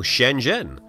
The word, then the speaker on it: Shenzhen: a totally random example shenen how do you say it it's what the zh doing there can't you just ignore the H spoiler you can't Z is his own sound in Chinese I did actually end